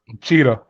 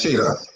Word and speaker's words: Cheadle: But people like Don Cheadle, Cheetah. Is it Cheetah? It's Cheetah. Is it Cheetah? Everybody pronounces it different.